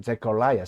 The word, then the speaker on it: Zechariah: 원음 발음에서는 Zechariah, 사가랴가 Zechariah라고 발음이 됩니다.